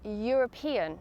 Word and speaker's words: European: Additionally, the word ‘European’ is also pronounced with a /y/ sound, so we use A before it.